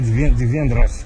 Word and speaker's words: divendres: Em catalão seria divendres. Se escreve divendres, mas seria divendres.